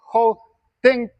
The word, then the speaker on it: 后蹬: Se escribe con D, pero se pronuncia como si fuese T.